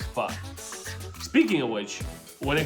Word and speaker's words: pho: It's cocktails and pho, or faux, however you want to say it, but technically I think it's pronounced pho.